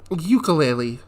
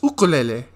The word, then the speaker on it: ukulele: It's not ukulele. It's ukulele. say it right.